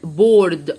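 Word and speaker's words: board: السبوره دي اسمها ايه مش هنطق الايه هي جايه تساعد الاوض قول اسمها اوه بور بورد بورد بورد اسود يعني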